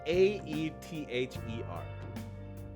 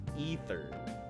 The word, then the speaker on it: aether: word in gaming is a-e-t-h-e-r ether it's pronounced ether but a hundred percent of people say aether and that drives me